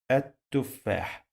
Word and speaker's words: التفاح: and here I say التفاح التفاح. But pay attention, we have a letter here that we dropped, we didn't pronounce. It is lam, sounds like L, but we drop it.